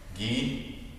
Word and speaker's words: ghee: right beef fat okay ghee there's a silent h in there you know i knew